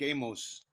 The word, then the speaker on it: Amos: My name's Amos. Rhymes with famous.